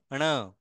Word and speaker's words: ण: अब ये इसको आप ड नहीं पढ़ेंगे, ये ड नहीं है। इसका उच्चारण न के जैसे होता है, ये जो न है ना इसके जैसा होता है, लेकिन कंप्लीटली न नहीं होता, ण इस तरह से होता है।